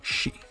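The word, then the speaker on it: し: hook and that hook captured a poor sill pronounced she she and finally we have uh the first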